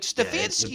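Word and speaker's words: Stefanski: not win it more I than God like stefansky you said it right stefansky is like that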